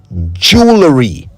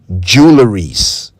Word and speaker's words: jewelry: So came the word jewelry, not jewelries, and not jewelries. That is not how to say it right.